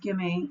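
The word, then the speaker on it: gemmae: production the liver warts produce um Jimmy and I've heard it pronounced gimme in gimme cups or Jimmy cups these little cups right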